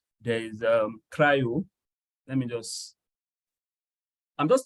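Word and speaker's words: CRI-O: there's container d there's container D there's um cryo it's spelled c r i o this way there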